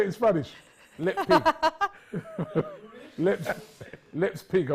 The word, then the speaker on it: Leipzig: Lespig. You know the ones I call a pig? Lespig. The ones I call a pig. Leipzig.